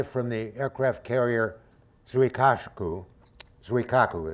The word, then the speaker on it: Zuikaku: the aircraft carrier surikashuku zuikaku is the way it's pronounced and aircraft from Alexia